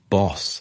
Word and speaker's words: Bosch: The young Geronomous later adopted the name Bosch, pronounced boss in Dutch, as tribute to his hometown that was known locally as Denbos, the forest.